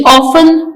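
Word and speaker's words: often: इन the morning ऑन इसमें T silent है वो अक्सर औकात सुबह जल्दी जागता है ऑन ओ एफ टी हमने इसकी साउंड नहीं प्रोनाउंस की ई एन ऑन लेकिन इसको स्पेल्ट करते वक्त इसमें टी मेंशन किया जाता है ओ एफ टी ई एन T silent next Ahmad is एन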